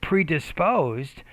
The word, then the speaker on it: predisposed: That's a good academic word to use, but you're not getting the word stress in that word. Predisposed, and make that stress syllable clearer, louder, longer, and higher pitched.